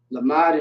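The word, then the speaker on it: למד: right so now we have the love Lamar lamad in Hebrew means learn okay learn my young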